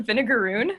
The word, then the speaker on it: vinegaroon: past it so the vinegaroon so it's spelled like the word vinegar with o-o-n it sounds like the name of a pirate ship or something but it's the name